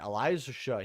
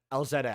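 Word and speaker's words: Elzette: know by the way Elija here or it's not called Elijah elzetta I there's no reason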